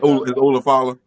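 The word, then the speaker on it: Ula Fala: It's Ulafala.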